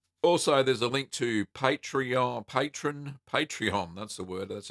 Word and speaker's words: Patreon: Also, there's a link to Patreon, that's the word, that's how you say it,